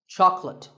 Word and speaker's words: chocolate: just about everybody loves chocolate when you ask for this at the store make sure that there are only two syllables Chuck and let chocolate and remember there is no late in chocolate speaking of chocolate how